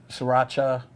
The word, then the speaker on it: Sriracha: And then you put uh like Srirach Sriracha. Am I pronouncing it correctly?